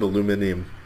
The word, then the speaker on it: aluminum: Both are considered to be acceptable and correct pronunciations.